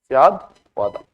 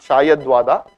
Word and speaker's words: Syadvada: That is, my pronunciation as it is some Hindi words, it can be sometimes, Syadvada. Right? It is not Shayadvada.